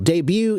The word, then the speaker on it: debut: and make an example debut is a French word originally Baha that's why it's pronounced that way and to debut something